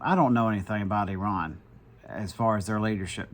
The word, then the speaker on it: Iran: Started the Iran again, which that's how it's pronounced.